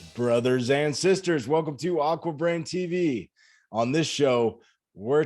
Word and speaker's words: AquaBrain: your institute, I'm still going to let you pronounce it for the folks. The school is called AquaBrain.